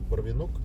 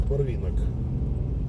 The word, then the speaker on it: Барвинок: Я неправильно его называл. Я его называл Барвинок. Почему-то мне казалось, что так должно быть ударение. Оказывается, надо Барвинок. Изучил Барвинок.